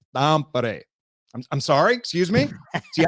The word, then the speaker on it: Tampere: which is spelled Tampere, which could be Tampere. Yep. But one of Roope's family members came up to me and he goes, Jeff, do you want to say it correctly? I said, of course I do. He said, all right, well, you need to say Tampere.